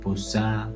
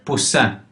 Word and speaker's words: poussin: Mais pour chaussure, poussin, on entend S, on n'entend pas Z. Pourquoi? Parce qu'ici, on a écrit S en double S.